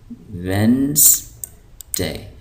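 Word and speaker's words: Wednesday: पीर ट्यूजडे ट्यूजडे मंगल यहां जो ये डी है साइलेंट है इस डी को हम नहीं पढ़ेंगे तो ये हो जाएगा वेनसडे तो इसको हम पढ़ते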